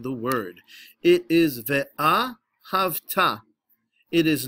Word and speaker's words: V'Ahavta: ah ha ha notice the way I am pronouncing the word it is the AH hafta it is not via hafta although a lot of people pronounce it that